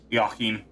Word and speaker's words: Joachim: episode, and that's that you can play as Joaquin, or however you pronounce his damn name. I don't think he... Shit, goddamn it, motherfucker! Pronounced. Joachim.